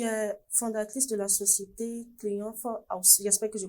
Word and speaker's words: Triomphe House: Alors, tu es fondatrice de la société Triomphe House. J'espère que je prononce bien.